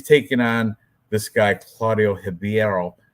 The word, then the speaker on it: Ribeiro: And he's taking on this guy, Claudio Ribeiro, because the R is pronounced with an H.